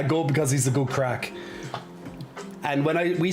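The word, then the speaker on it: craic: why we're saying our crack is in ass crack um it's spelled differently but it's pronounced the same but if we say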